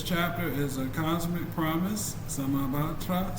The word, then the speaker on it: Samantabhadra: The name Samantabhadra is pronounced as Samantabhadra. Let the rhythm of the sutra flow. Sure thing, Antoine. It's pronounced Samantabhadra.